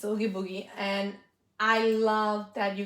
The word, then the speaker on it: Oogie Boogie: I can't pronounce the name. Oogie Boogie, Oogie Boogie. Yes, it's Oogie Boogie.